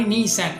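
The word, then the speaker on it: Nissan: அடுத்த company நீசான். இதையும் நம்ம தப்பாக ப்ரொனவுன்ஸ் பண்ணிட்டு வராங்க. 1933 ஸ்டார்ட் பண்ணுற கம்பெனி தான் இந்த நீசான் ஜைபெர்ட்ஸு.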